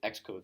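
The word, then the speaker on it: Xcode: to use X code it's spelled like that I know it's like really weird but you got to live with it X code like Xbox X code yeah all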